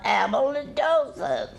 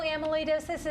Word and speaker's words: amyloidosis: Megan she's my best friend nagging me about a molar doses well I just learned how to say it myself are you kidding how I know amyloidosis is that it's a rare blood disease and